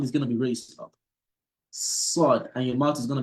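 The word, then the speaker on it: ص: So there's a less heaviness in pronouncing sin compared to sod.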